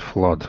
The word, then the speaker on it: flood: proved yeah very good and flood and but not flu yeah flood good yes well done like like blood exactly yeah well corrected